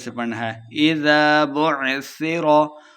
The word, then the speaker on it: بعثر: سے پڑھنا ہے۔ اذا بعثر، بعثر سا پہ سختی نہیں کرنی۔ ما فی القبور، قاف